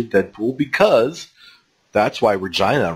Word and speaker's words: Regina: To have the city of Regina in Saskatchewan put up a statue of Deadpool, because that's why Regina rhymes with fun.